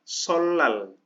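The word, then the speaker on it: 설날: Solnal. Nah, solnal ini hari raya Korea. Solal, jadi dibaca L-nya double.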